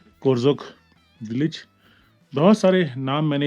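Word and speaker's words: Korzok: एंड ये है जी कोरजोक village बहुत सारे नाम मैंने इस बार अपनी ट्रिप में करेक्ट किए हैं। इसे करजोक बोलते थे हम कारजोक नहीं है कोरजोक है और सो मुररी नहीं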